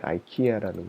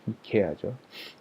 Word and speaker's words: 이케아: 그 다음에 아이키아라는 곳이 있습니다. 한국식 발음으로는 이케아죠.